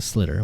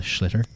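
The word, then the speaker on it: sliotar: In other places of Ireland, it's called a schlitter. They really pronounce the sh, which there is no sh, but they pronounce it anyway.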